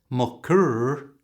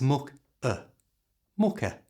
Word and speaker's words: mucker: Like almost every word in English that ends in ER, this is pronounced with a schwa sound. That's that little sound that's so common in English. So it's not mucker, it's mucker.